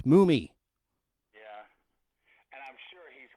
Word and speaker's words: Mumy: Anyway, no, it's Mumy. Yeah, and I'm sure he's gotten that all his life. It's understandable, though, the way it's spelled, but no, it's 2 M's is Mummy, okay? 1 M, that's Mumy.